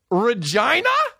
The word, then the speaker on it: Regina: with their titles and we rhyme with vagina dude Regina are you kidding me